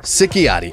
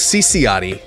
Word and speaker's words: Ciciotti: Today we're doing our follow-up video on Molina Sikiotti. I know I said her name wrong. It's Cece, which also rhymes with Molina Cece hypocrisy.